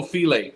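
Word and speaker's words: filé: gumbo file for fish gumbo filet that's how you pronounce that is he saying filet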